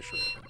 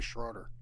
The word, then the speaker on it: Schroeder: I see your last name spelled a certain way, and I want to say Schroeder. Yeah. But that O is silent.